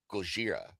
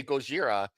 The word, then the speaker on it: Gojira: to the United States, the people couldn't pronounce the Japanese correctly. So they were trying to say Gojira and they say Godzilla.